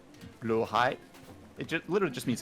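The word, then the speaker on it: Blåhaj: Yes, I know it's not pronounced that way in the original Swedish. You don't speak Swedish either, don't you lie to me. I see you pedants in the comments. Out of curiosity, how is it pronounced in the original Swedish? I mean, I'm not a native Swedish speaker, so apologies if I get it wrong, but I believe it's more like blahai.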